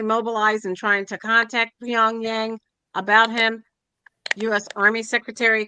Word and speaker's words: Pyongyang: How do you pronounce that? Pyongyang is the Yeah, first that's right.